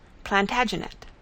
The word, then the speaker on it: Plantagenet: The Latin name for broom is planta genista, and gradually it came to be pronounced Plantagenet. Although Geoffrey was French, he